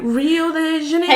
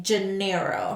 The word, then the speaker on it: Rio de Janeiro: And I'm like, I know I'm pronouncing it right. Right. Right, so the stupid one in this situation. Yeah. So she basically wanted you to say Janeiro. Something. Yeah, exactly. More English-like.